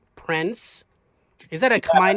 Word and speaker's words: Prenz: way it is, but it's spelled Prenz, but it's pronounced Prince, just like Prince, just like the royal family, Prince, Princess.